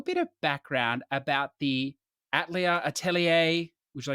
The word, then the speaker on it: Atelier: So I'm going to pronounce it how they do within the games themselves, which is Atelier.